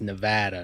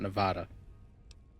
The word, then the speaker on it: Nevada: our name shall be um Nevada because it's pronounced Nevada not Nevada I can't say it's what I'd have picked